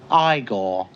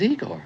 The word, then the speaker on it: Igor: You know, that kind of feels like an origin story for the first Igore. No, it's pronounced Igore. But they told me it was Eigor.